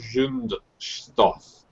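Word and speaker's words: Zündstoff: The club that's on the card is de Zundstoff. I'll spell it.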